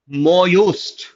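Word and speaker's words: mot juste: हाँ, यहाँ पे टी is silent surprisingly and जे is also silent. So इट इज मोयूस्ट.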